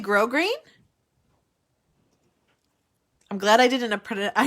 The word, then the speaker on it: grosgrain: word it is that you don't pronounce the s that's really grosgrain i'm glad i didn't